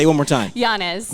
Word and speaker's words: Llanes: Llanes. Melanie. So the 2 L's make the Y.